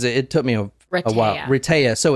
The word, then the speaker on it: Rehtaeh: Rehtaeh.